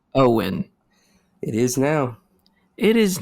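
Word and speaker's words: Eoghan: I'm just gonna butcher it eogen uh it's Owen that's how they spell Owen dude hey Ireland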